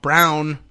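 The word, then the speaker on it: Braun: story where Senator BR Brown he says brown but it's spelled Brun is running for governor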